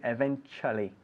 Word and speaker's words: eventually: Be careful with the pronunciation because we write it eventually con dos L's, eventually, but we pronounce it eventually. Cha, cha, cha.